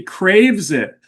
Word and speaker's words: Kravitz: And I forgot to phonetically put it on the card that it's Lovey Craves It.